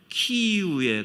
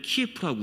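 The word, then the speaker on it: Kyiv: 조금 좀 시대를 건너뛰긴 합니다만 그 11세기 지금 온 세계가 우크라이나 전쟁으로 다들 염려하고 있는데 우크라이나의 수도 키이우에 가면은 옛날 키예프라고 우리가 발음했잖아요.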